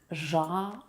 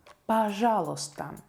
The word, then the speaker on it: Пожалуйста: Пожалуйста. Пожалуйста. Please. Usually, this word is not in the list of words with silent consonants, but the letter I краткая is a consonant, and we don't pronounce it here.